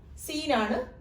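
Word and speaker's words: سَ: എന്താണ് ലെറ്ററിന്റെ ഉച്ചാരണം? ബ എന്നായി. സീനാണ്, സ എന്നാണ് പ്രൊനൗൺസിയേഷൻ.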